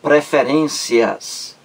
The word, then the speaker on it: preferências: última sílaba pré ferências palavra paroxítona a sílaba mais forte é a penúltima prefere seus é é a sílaba penúltima aí é a mais forte então preferências é uma